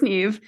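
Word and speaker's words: Niamh: cannot pronounce her name Neeve I don't believe you it is Neeve if you Google how to pronounce n a MH it's Neeve so Neeve which is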